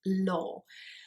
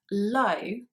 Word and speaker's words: law: in words such as law so um often people kind of tend to mispronounce it as low which is the opposite of high but actually it's pronounced